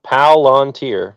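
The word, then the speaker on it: Palantir: Um, it's one word, three syllables. Palanteer.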